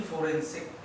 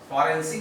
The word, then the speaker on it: फोरेंसिक: इसके बाद अभियोग निदेशालय है इनका, और है इनके पास सीबीआई के पास केंद्रीय फोरेंसिक, फॉरेंसिक आप बोलते हैं, वो गलत है वर्ड, फोरेंसिक होता है।